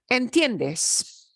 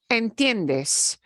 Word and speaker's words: entiendes: is calling okay um entiendes entiendes you understand okay n Tien the IE is a diphthong those twos hang together like spit okay and then